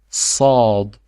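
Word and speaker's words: صاد: It is not S. No, my friend. No. It's Sad. Sa. Heavy S.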